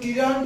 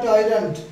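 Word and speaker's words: tyrant: Next হচ্ছে উচ্চারণটা হচ্ছে টিরান্ট বা টাইরান্ট, বাংলা মানে হচ্ছে অত্যাচারী।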